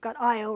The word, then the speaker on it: Io: You've got Io or Io, depending upon how you want to pronounce it. I think the British always call it Io, so I call it both because I've been taught by both.